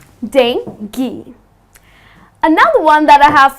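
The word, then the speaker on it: dengue: is Danny the mosquito-borne disease yes it's not dangle or it's not dang you many people pronounce it in this manner but that is incorrect the correct pronunciation is dengi so it's dinky another one that I have for you is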